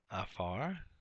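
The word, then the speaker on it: עָפָר: We have afar for dust. Again, this is, remember, this is the ayin with the comets up under it. The accent is on the last syllable here.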